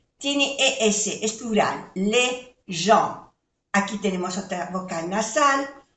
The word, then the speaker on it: gens: Ya sabemos que se pronuncia E porque tiene ES, es plural, les gens. Aquí tenemos otra vocal nasal, EN, en, gens, que no se pronuncia la S, que es de plural, pero no se pronuncia.